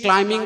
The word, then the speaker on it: climbing: He is climbing the steps. Climbing, it is not correct. Climbing. B is silent.